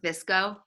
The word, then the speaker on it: VSCO: It's pronounced like Visco.